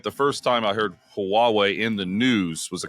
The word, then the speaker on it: Huawei: to Apple in China is Huawei, right?